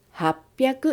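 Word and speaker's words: 八百: hachi và hyaku, rồi ni và juu, rồi nana, và quy tắc sẽ được thêm vào. Vì vậy, chúng ta đọc là happyaku nijuu nana.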